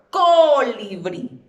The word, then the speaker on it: colibrí: Segundo paso, identificamos dónde está o dónde recae la fuerza de la voz o dónde está, perdón, la sílaba tónica en este caso. Pronuncio en voz alta. Colibrí. Colibrí. Si yo pronunciase, por ejemplo, colibrí. No, ¿verdad? Colibrí. ¿Dónde recae? Muy bien. En la última sílaba.